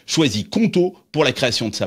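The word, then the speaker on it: Qonto: ni l'envie de te battre contre l'administration française conto est là pour te simplifier ta vie d'entrepreneur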